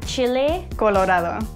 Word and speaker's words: chile colorado: Chile. Chile. Colorado. Like Colorado.